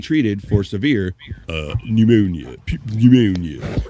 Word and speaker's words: pneumonia: Pneumonia. You don't you don't pronounce the P.